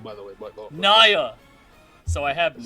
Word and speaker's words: Nya: It's Nya, by the way. Nya. So I have been mispronouncing it for the past 2 years.